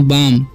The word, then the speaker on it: balm: उसी तरीके से BALM है, तो इसे बालम नहीं पढ़ना है, ठीक है, इसे पढ़ेंगे हम बाम, ओके, एल साइलेंट है।